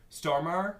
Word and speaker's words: Stormare: bumbling idiots of Steve Buscemi and Peter Stormare stormer yes that's how you say his name it's